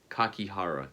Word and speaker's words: Kakihara: Kakihara, yes.